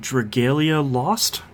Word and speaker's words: Dragalia Lost: I played Nintendo's new mobile game, Dragalia Lost. Okay. Fairly sure that's how you pronounce it.